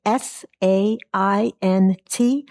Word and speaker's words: Saint Sing: Saint? Like a saint and it sings. 300 block of Queen Chapel Road. Go ahead. Deborah, can you hear me? Deborah Yeah. Saint Sing, SAINTSING, pronounced just as it's spelled, Saint Sing.